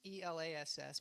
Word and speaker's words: Elass: My last name's Elass. It's E-L-A-S-S, but pronounced Elass.